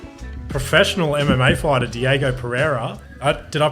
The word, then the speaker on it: Diego Pereira: foreign professional MMA fighter Diego Pereira uh did I pronounce that right yeah that's yeah yeah perfect